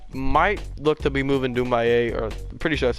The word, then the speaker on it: Doumbouya: And I might look to be moving Doumbouya, or I'm pretty sure that's how you say his name, Sekou Doumbouya, to the 3 spot.